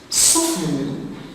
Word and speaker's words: soften: Soften, the silent letter is the T after the F.